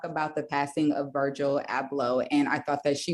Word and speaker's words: Abloh: We all know like this past Sunday, Virgil Abloh. This is my question. I pronounced his last name all the way wrong. How do you correctly pronounce it? You said it right.